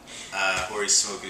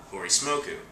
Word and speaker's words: Hori Smoku: used to sign it Hori Smoku, so if a Japanese person said it because of the way they pronounce the L's, they would say Holy Smoke.